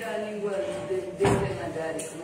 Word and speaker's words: Devanagari: E a língua Devanagari, como é que fala? Devanagari. Não é Devanagari, também é a mesma coisa. Devanagari.